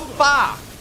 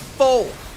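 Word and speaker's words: phở: Uh it's called far. Po is called far. That is why the Singapore restaurant is called so far so good. I always call it fo or people tell me it's wrong.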